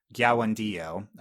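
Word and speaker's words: Kiawentiio: Gyawandio, spelled with a K, pronounced like I just said, for her performance as Katara so far, but I don't think she got a ton of material.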